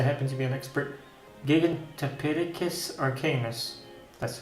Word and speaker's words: Gigantopithecus: In my case, I happen to be an expert Gigantopithecus arcanus. That's how you pronounce it.